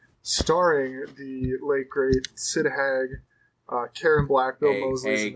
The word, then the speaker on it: Haig: Came out April 11th, 2003, written and directed by Rob Zombie, starring the late great Sid Haig, Karen Black, Bill Moseley's in this. Hag. I said Haig. You said Hag.